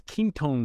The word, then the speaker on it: Quinton: Another one is ketone water. It's spelled Quinton.